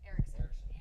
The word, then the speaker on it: Erickson: Okay, Eckerson. Erickson. Oh my God. Write it down. Eric. It's spelled just how it sounds. Eric. Son.